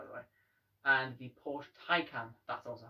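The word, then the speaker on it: Taycan: it's pronounced by the way and the porsche tycoon that's also how it's pronounced they're both spelt completely different i just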